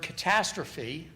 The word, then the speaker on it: catastrophe: So in the word catastrophe, the first syllable, the ka, is unstressed, second syllable, ta, is stressed. And if you measure the